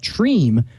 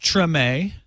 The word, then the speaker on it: Treme: they're exploding talking about Treem, which is, I guess, created by the same people who did The Wire. Do you know anything about Treem? I believe it is pronounced Treme.